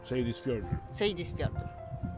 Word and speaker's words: Seyðisfjörður: Cliffie ma swój kawałek ziemi od 20 lat i nauczył nas wymowy tego fiordu. Czyli Seydisfjordur.